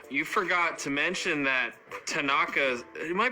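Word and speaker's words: thanaka: You forgot to mention that Tanaka, am I pronouncing that right? Yeah, Tanaka.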